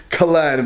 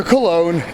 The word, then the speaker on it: Cologne: I keep saying Kern, but it's actually Cologne.